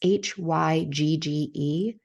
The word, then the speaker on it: hygge: And so if you've read it before, it's Hygge, but it's pronounced hygge.